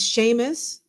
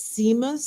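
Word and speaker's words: Seamus: and um it and it's Sheamus but it's it's like s EA m u s and I'm thinking it's seus seus seus and then I found out it's Sheamus and then I put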